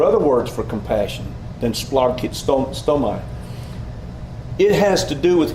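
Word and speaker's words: σπλαγχνίζομαι: Splagkitsomai. Splagkitsomai. There are a lot of consonants shoved together, so it's very hard.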